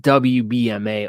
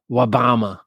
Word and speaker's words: WBMA: It's pronounced WBMA or Wabama.